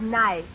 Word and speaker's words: knife: no the word is nice K is the silent letter K is always silent in front of n it's not so what